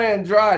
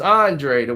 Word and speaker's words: Andrade: Brandon Adams nice tried Oh well it's not Andrade is it's Andre de witte pronounce it they family is Israelites I know